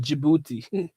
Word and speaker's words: Djibouti: __ ] bro and he says it's called Djibouti ok I appreciate that Djibouti hey man that